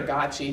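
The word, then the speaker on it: Gøtzsche: to get to but it's written by Peter gachi who's head of the Cochrane Collaboration his last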